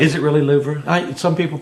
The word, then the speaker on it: Louvre: Is it really Louvre? Some people pronounce it that way. You know, some people just say Louvre. She says it's not. It's Louvre. I say Louvre. But it sounds too much like loo.